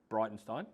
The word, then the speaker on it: Breitenstein: for having me and I learned that your name is pronounced brightenstein that's correct yeah yep so tell us